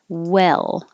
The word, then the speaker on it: well: your tongue rises way well the tongue is lower so it doesn't have to go high and low it's more in the middle the whole time well it goes up for the l well same for will so 32 33 34.